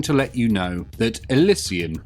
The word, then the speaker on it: Elysian: let you know that alysian is how I like to pronounce it I do however know that many people out there like to call them the alians to me this sounds like some sort of Affliction so I refuse to